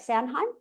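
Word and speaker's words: Samhain: gonna say this right sanheim s yeah it's a tricky one to pronounce isn't it it's very different to how it's spelled but kind of similar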